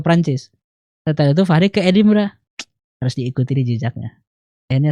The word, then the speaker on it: Edinburgh: Oh bacanya itu Edinburgh gitu ya? Edinburgh itu.